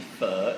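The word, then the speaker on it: phở: pretty much call it fo now because I just get the linga of everybody else but it is actually fur it's pronounced as fur yeah so it's got a really deeper tone right so if you're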